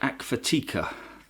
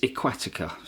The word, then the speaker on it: Aqvatika: mistake that you'll see where it pronounced the lake a k---forty cur that is not the correct way to pronounce a lake it's aquatic ax so I can only